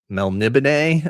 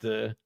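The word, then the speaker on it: Melniboné: This is Elric of Melnibone, I think it's pronounced. I think D-Man at the party just Melnibone, yeah. Melnibone. That B, the N right next to the B is hard.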